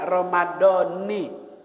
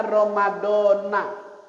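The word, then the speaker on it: رمضان: niat puasa nawaituinardah Kalau ngaji sama abah Maulana bacanya ramadanii karena gurunya Syekh Muhajirin Ansar addari ngajarinnya ramadanii kalau ngajinya sama Kiai Nur Ali bacanya Ramadana dua-duanya sah ramadanasah Ramadan juga sah yang kagak sah kalau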